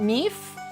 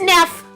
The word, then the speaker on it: Neff: Is it Neef? Oh no, it's Neff.